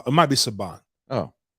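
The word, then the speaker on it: Subban: ice iceman played earlier earlier this week um sabin i want to say that's how to say his name or saba it might be saban oh subhan subhan yep subhan um he is a it's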